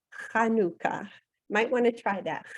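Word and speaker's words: חנוכה: itself means dedication and I'm going to pronounce it for you in Hebrew it's kanuka might want to try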